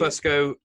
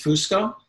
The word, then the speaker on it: Fusco: The traditional Italian pronunciation is Fusco. Fusco, yeah. And I've adopted that for a while, but my dad pronounces it Fusco, which is like this American bastardization of it's like let's the FU sound is like fusion, but let's make it Fusco.